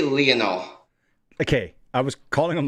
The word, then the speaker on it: Lionel: I say Lionel. Okay, I was calling him Lionel. It's Lionel.